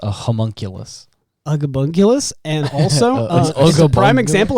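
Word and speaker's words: homunculus: to create aulus and or Gollum it's actually pronounced a homunkulus aulus and also prime example of how to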